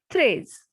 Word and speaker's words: treize: Number 13, treize. E and I has sound A.